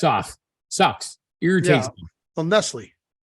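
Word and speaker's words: Nestlé: off sucks irritating so Nestle because it's Nestle but it has hyphens over it yeah changes it but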